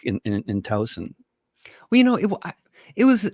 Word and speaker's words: Towson: suburb more suburb of baltimore baltimore yeah yeah towson it's pronounced right okay i'm being exposed as a